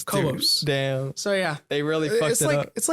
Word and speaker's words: Cobos: name make it worse i was caboose instead of co-ops damn so yeah they